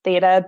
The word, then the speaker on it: theta: know, dear Laura, that you are a certified, am I pronouncing this right, theta healer? How do you, Yes, theta healer.